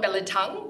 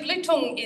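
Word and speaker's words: Belitung: pronounce it but actually blutong is the island um Billiton Island where BHP got its name from they were originally there mining tin so it kind of sounds like Billiton but it's Bluetooth um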